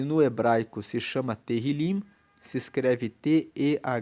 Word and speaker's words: Tehillim: O livro de Salmos, e no hebraico se chama Tehillim, se escreve T-E-H-I-L-I-M, e Tehillim significa louvores.